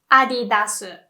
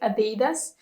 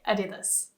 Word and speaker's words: Adidas: We say Adidas. Adidas. It's very close. I've also heard people pronounce it like Adidas, but apparently it's not very correct. Apparently you're supposed to say Adidas.